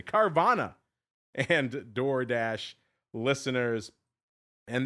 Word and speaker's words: Carvana: Wednesday, we got Uber and the D and Carvano and Door Dash. Carvano, easy for me to say. Carvana and Door Dash listeners.